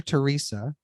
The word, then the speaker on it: Terrisa: Joshua's mother, Teresa, which is spelled Terrisa, which that's why every time I say it, I pause.